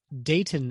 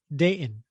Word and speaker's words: Dayton: see this with females there is the silent T in the middle of a word okay so it's not Dayton Ohio it's Dayton okay yeah right all right